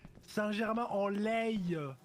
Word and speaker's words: Saint-Germain-en-Laye: Ok, j'aurais dû mieux prononcer. Saint-Germain-en-Laye.